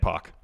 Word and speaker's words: Pac: And Pac. Yeah, you'd say it exactly. I told you how to say my name. Yeah, it's Pac. It's Pac. Pac.